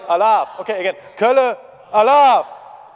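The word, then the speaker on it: Alaaf: It's like, I will say Kölle, which means Cologne, yeah, and you have to say I laugh. Like, it's similar to I laugh. It's spelled A-L-A-A-F, and nobody knows what it means, so don't ask me.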